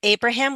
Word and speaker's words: Abraham: Abraham with a long a good Nicholas.